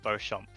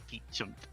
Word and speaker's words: Beauchamp: But I wanted to because my name is pronounced Beauchamp. Okay, not Beauchamp. Oh, good. Okay, good. Well, I was going Bouchon.